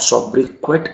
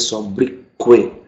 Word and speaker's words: sobriquet: सोब्रिक्वे, इट इज नॉट सोब्रिक्वेट, इट इज सोब्रिक्वे, क्वे your nickname. जैसे मैंने यहाँ पे देखा होगा अगर आपने, तो मैंने यहाँ पे गवर्नमेंट नहीं बोला था, आई सेड गॉर्मे, वैसे ही सोब्रिक्वे।